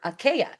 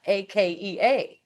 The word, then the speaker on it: Akea: It actually pronounced like the Hawaiian word Akea, Akea, right?